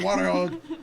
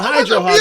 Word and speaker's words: Hydro Hog: Yeah, see, he had no idea, but I said it wrong, and he's like, Hydro Hog! What are you yelling at me for? Cut me off earlier, yelling at me. It's the Hydro Hog, goddammit.